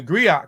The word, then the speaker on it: griot: the Grio are unique to Western Africa the Grio and jelly professionals Encompass many roles um pronounced Grio has been referred to historian storytellers